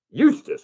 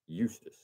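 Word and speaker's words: Eustace: from the Star Ledger is Bishop, and this is spelled E-U-S-T-E-C-E. How would you say that? You ready? E-U-S-T-E-C-E. T-A-C-E. Eustis. Okay. Number one boys varsity baseball team this week is number 1, Bishop Eustis.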